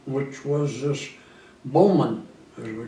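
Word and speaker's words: Baughman: in the Navy it was they called him Bowman it's spelled b-a-u-g-h-m-a-n the man that always called grandpa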